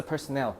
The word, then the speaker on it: personnel: 그래서 once NASA personnel, 여기다 personnel은 직원이라는 뜻이야. 개인 아니야. personnel이라고 읽어야 돼.